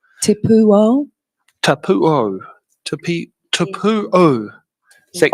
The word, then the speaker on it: Te Pūao: Uh Tu mold. Is that how you say or how do you say it better? Tapuo.